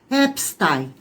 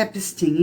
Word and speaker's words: Epstein: Então, a pronúncia não é americana, a pronúncia, tá, é judaica. Então, é Epstein. A pronúncia americana é Epstein.